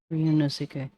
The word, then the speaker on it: Ryunosuke: In literature, too many people mispronounce Ryunosuke. Ryunosuke.